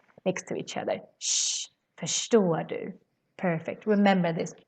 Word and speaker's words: förstår du: No, förstår du. Because we have RS next to each other. Shh, förstår du. Perfect. Remember this. Always when you see RS, you pronounce it as shh.